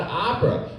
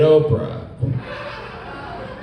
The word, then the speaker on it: Oprah: should be pronounced like we know it's not Opera because all these years she's been pronouncing it Oprah or or like I